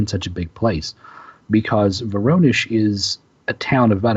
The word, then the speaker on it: Voronezh: And I'm pronouncing that possibly wrong. It's Russian, but it appears to be Voronezh.